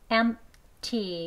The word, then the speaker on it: empty: 강세는 여기 첫 번째에 있습니다. M을 강하게 높게 길게 발음해 주시고 T는 낮게 약하게 합니다. M, T 이렇게 되는데요.